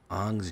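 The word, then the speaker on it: Aang: That's pronounced an by the way. I don't want to hear Oh. Oh, it's Jay. It's Ang. No, it's Ang. I saw the movie. They say an in the movie, man.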